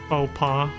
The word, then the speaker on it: faux pas: because they have like, what the fuck is up with the silent X? You know? It's like, that clearly says Fox. Like, why the hell, why are there silent letters, especially consonants like an X? Since when is an X a silent letter, right? Like, what the hell is that? Same with the S.